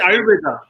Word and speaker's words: Ayurveda: Well, yeah, but the word is AYURVEDA. That's Ayurveda.